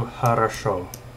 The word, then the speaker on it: хорошо: Let's do хорошо. And so this equals well. Like he did the job well. And so the accent changes, and the accent is on this O.